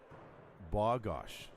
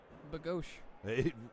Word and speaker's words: Bogosh: But it is like it is said ba, Bogosh. Bogosh? Bogosh. Bogosh. Like, phonetically, I have BAU dash GAUSCH. Bogosh. It sounds like Bagosh. Right, but Bogosh.